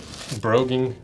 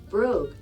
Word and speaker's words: brogue: one people get upset how do you say broing everyone's always anytime I say broing they're like that's not how you say it brogue well well W brogue